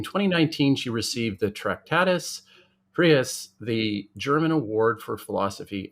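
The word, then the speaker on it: Preis: she received the Tractatus Prius, the German Award for Philosophy and Social Ethics. Now, I don't want to mispronounce that one, Lisa. The Tractatus Prius, is that how Prize. Prize. Okay. It's prize, basically.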